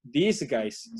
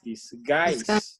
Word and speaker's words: disguise: Ese apóstrofo me indica que la siguiente sílaba es la que se pronuncia fuerte. Entonces no es disguise, sino es disguise, ¿no? ¿Lo dijeron bien? Y así tal cual lo ven ahí, disguise. Así se pronuncia, disguise.